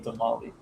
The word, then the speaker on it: tamal: It's like when people say tamale. It's tamal or tamales. Like it's. Tamale. You can't just take the S off the plural and call it a tamale.